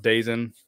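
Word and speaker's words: DAZN: deal whatever was uh I think it's pronounced dazen um we're going to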